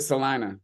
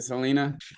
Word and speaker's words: Salina: great Selena Selena Kansas we pronounce it Salina a lot of people pronounce it Selena yeah we'll we'll all